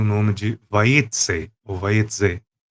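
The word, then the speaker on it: Vayetzei: E por isso a Parashat tem o nome de Vayetze, ou Vayetze. A pronúncia está mais próxima do S, então por isso a gente escreve Vayetze, mas a maioria dos Kahalotes colocam a letra Z, também Vayetze.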